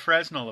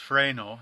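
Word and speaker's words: Fresnel: a little bit of fresnal Applied which remember is actually pronounced fral I just have the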